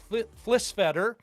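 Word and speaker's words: Flisfeder: You can also get the book by Matt Flisfetter. Rhymes with better, Postmodern Theory and Blade Runner.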